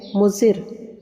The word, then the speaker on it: مضر: نظر آ رہا ہے۔ اس لفظ کا صحیح تلفظ ہے مضر۔ اگر ہم اسے جملے